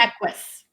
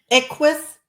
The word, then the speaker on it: Equus: I know it's Latin also, coach, master facilitator, but you have to help me with the pronunciation. Is it? Equus. Equus.